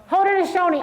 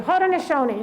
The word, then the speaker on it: Haudenosaunee: Oh, somebody gave me the pronunciation, phonetic pronunciation. But I don't have my glasses on. Well, say it out loud. Haudenosaunee. I practiced that over and over in my office. Thank you. Haudenosaunee.